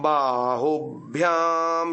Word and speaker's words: बाहुभ्याम: ओम शिरः ओम बाहुभ्याम यशोबलम् भ और य का संयोग है तो ऊ में झटका देना है।